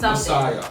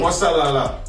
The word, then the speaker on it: masala: Messiah.